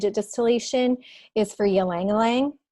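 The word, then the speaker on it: ylang-ylang: distillation is for you Liang Liang so it's it's looks funny to us it's spelled y la ng y la ng but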